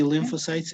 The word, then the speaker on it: lymphocytes: uh you're going to repeat after me the pronunciation okay it would be lymph lymphocytes right b lymphocytes and t lymphocytes right lymphocytes lymphocytes yes however